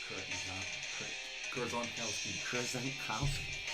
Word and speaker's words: Krzankowski: Krzankowski. 4 syllables. Krzankowski. Kurzonkow as in Alright.